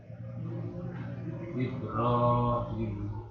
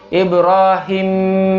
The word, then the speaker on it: Ibrahim: Misalnya baca gini, Ibrahim, nah itu salah. Tapi bacanya hi-nya dulu yang panjang, hi, baru Ibrahim. Nah, baru imnya masuk.